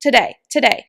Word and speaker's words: today: But if you really want to make sure you're creating the right stress pattern on this word, you want to lengthen the syllable day. Today, today, today. When you stress the syllable day and you make it longer, louder, and higher in pitch, it's easier for a